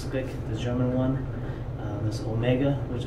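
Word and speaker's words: Speick: There are cheaper ones like Perazzo and Speck, or Spick, I think it's pronounced Spick, the German one.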